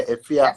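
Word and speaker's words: Efya: Efia? Yeah, Efia.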